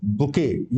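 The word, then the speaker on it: bouquet: बुके। यह बुके है। टी इसमें साइलेंट होता है।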